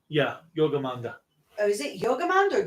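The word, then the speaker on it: Jörmungandr: or Jorgamon? Yeah, Yogamanda. Oh, is it Yogamond or Jorgamon? Yogamanda. Oh, so it's pronounced with a Y, not a J?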